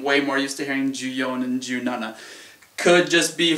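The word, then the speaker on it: 十四: 4, ju-yon is how I generally pronounce it. I've heard ju-shi, however, if I'm not mistaken, ju-yon is quite a bit better. As that's more what I'm used to hearing. I'm more used to hearing ju-yon as opposed to ju-shi.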